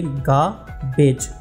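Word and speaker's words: garbage: Number 36 गार्बेज, इसको आप pronouns करेंगे गाबेज, गार्बेज का मतलब है कूड़ा, और इसके सिनोनिम्स होंगे वेस्ट एंड रबिश।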